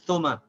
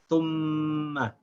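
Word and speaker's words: ثُمَّ: We should not say thuma, thuma. If I say thuma, then I did not connect the tha with the meme, thum. I didn't join the two as one syllable. I made it two syllables. I said thuma. This is also incorrect. I have to join the two, thum, and without stopping the sound of the meme, say ma. I should say thumma.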